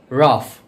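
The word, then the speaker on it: rough: রাফ।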